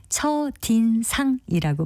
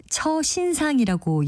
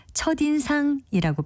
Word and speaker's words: 첫인상: 그럼 왜 시옷이 있는데 처신상이라고 연음해서 발음하지 않는 걸까요? 그 이유를 설명해 드리면 우리말에서 받침 시옷은 대표음인 디귿으로 발음한다는 것만 기억하시면 됩니다. 첫의 받침 시옷의 대표음인 디귿음과 뒤에 있는 인상을 연결해서 첫인상이라고 발음하기 때문입니다.